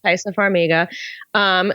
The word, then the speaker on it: Taissa Farmiga: Yeah, Taissa Farmiga.